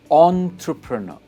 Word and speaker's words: entrepreneur: इसकी प्रोनाउंसिएशन है एंटरप्रेन्योर, एंटरप्रेन्योर, एंटरप्रेन्योर। से it with me, एंटरप्रेन्योर, एंटरप्रेन्योर। और stress is ऑन the last part, एंटरप्रेन्योर।